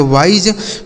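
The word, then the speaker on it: wise: इस आई का उच्चारण आई कर देना। एस ई से ज। इसे पढ़ेंगे वाइज।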